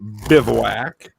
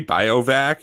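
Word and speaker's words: Bivouac: Uh I will go with Frontier Bivwak and Pasttor. I think you pronounced it right this time. I I was going to say Biovac and then I was like let's just do it.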